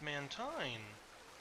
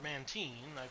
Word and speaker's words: Mantine: Mantike, and now we have Mantine. Or Mantine. I've heard different pronunciations.